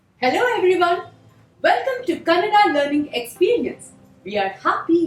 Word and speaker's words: Kannada: of the name s it's not Canada it is Canada Canada say it with me Canada Canada that's good so what